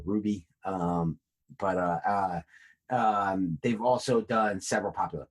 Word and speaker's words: RWBY: I think you pronounce that Ruby.